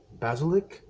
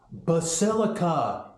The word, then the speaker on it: Basilica: Catholic Cathedral I think they call it a basilic I don't know I'll edit in the correct pronunciation later Basilica it's called Basilica adult I'm going to go